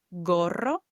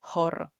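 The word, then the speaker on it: gorro: And I knew to pronounce this word goro goro with a hard g instead of like horo which would be incorrect as it's followed with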